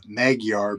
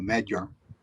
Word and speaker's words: Magyar: kids used to say, it's spelled Maguar, but that the G is softened as close to a D. So Magar is closer to what it is in real life.